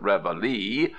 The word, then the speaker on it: reveille: Reveille, as nobody pronounces this word a la Française, as everybody calls it reveille, why not drop it